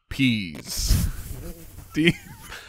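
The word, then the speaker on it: Pees: Defensive coordinator, Dean Pease. Dean Pease. What is he doing? And it is spelled P-E-E-S.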